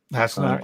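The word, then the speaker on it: Hassenauer: Did I pronounce that right? Hasselmeyer, yeah.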